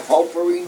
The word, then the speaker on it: potpourri: Okay, how do we spell potpourri now? P-O-T-P-O-U-R-R-I. P-O-T-B. P-O-U-R-R-I. Oh, it's a P, not a B. Yes, But P. the T is silent.